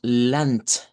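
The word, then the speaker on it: Land: Pero cuando lo pronunciamos en idioma dodge, como es consonante vibrante, al final se cambia por la consonante silvante. Su par es la letra T. Entonces decimos lant y la canción así va del título, M lunch.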